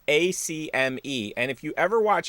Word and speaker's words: Acme: when you're from philly a lot of people don't call it acme for whatever reason they add like extra syllables to it so it's the acame i'm gonna go over to the acame like what but it's